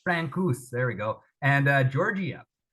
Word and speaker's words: Francouz: Francouz, Francouz.